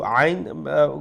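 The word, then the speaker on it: عين: আল্লাতি তাত্তালিউ, আইন গলার মাঝখান থেকে উচ্চারণ হবে।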